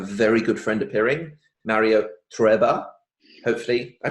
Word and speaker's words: Trueba: Because I'm always like Mario Trueba, and I'm like, no, it's not Trueba, it's Trueba. And Mario no, it's Trueba.